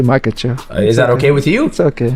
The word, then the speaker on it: Makhachev: How do you pronounce? I want to make sure I say your last name right. Makahachev. Yeah. Makahachev.